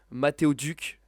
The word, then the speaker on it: Matteo Duc: Tu vas, avant de te présenter, Mathéo Duc, j'espère que je prononce bien ton prénom.